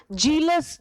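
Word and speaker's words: jealous: और बच्चों ये जेलस है, ठीक है। अरे वो तो मेरे से जेलस है, तो जो जलन वाला जेलस है उसका प्रोनाउंसिएशन हम जे से करेंगे ना, जेलस से।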